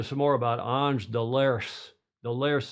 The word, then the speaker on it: Delerce: more about an deers delers they were calling him Del clerk on the television but it's not cler how do you pronounce